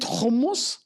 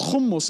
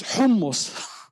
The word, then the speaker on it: hummus: It hummus. Actually, it is not humus. It is hummus. And do you know what is it? What does it mean hummus?